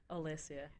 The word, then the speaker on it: Olesia: do that how do you say your name ELISA ELISA okay and how do you say your